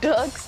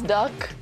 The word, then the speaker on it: Dirk: this happened talking about how i pronounce dirk's name is duck i can't really pronounce it like that it's like dirk i can't do that it sounds really strange so i don't i